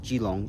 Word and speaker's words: Keelung: Gilong River is another one where it's pronounced Gilong in Mandarin, but it's spelled K E L U N G, which I assume is